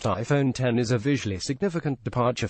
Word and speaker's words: iPhone X: the a 11 sock the iPhone X pronounced iPhone 10 is a visually significant